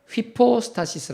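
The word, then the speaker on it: ὑπόστασις: 위기 여기인데요 그 위 격을 헬라어로 말할 때 휘 포스타 시스 라고 합니다 그것을 한 번 따라 있으니까 시작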